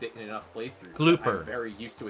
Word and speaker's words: Glooper: that Glooper. I'm very used to its handling. It's pronounced glooper. Bloopers are the white ones.